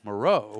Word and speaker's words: Moreau: But this week, I put it into the playbook as Moreau.